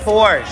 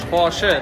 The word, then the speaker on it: Porsche: It's Porsche. Porsche. There's an E. Porsche. Porsche.